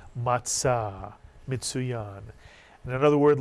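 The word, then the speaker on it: מצה: Matzah Mitsuyan, unleavened bread, the flat bread eaten on Passover. You'll hear people call it matzah, but the Hebrew pronunciation in Sephardic is matzah, mitsuyan.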